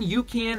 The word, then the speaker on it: UCAN: a couple weeks ago it's spelled U CA an you can hydrate and I'll just put this guy right up there basically uh Yukan has a couple different